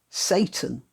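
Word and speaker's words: Seyton: called well it's spelt like this and it's pronounced satan why not treat yourself or a favored relative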